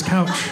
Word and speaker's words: Kjell: I'm like, yeah, that's my first name is couch. My parents named me couch. Yeah. How did you know that the J-E-L-L part of the name is totally silent? Yeah, you nailed it. And it's pronounced ouch, too.